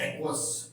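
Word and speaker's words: aqueous: जगहों पे देखा होगा वो पढ़ा जाता है एक्वास ओके एक मिनट स्पेलिंग रंग हो गया ए क्य य यू ई ओ यू S okay एक्वास तो ये चार फॉर्मेट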